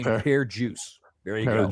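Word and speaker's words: Per Djoos: And they said he pronounced his name Pear juice.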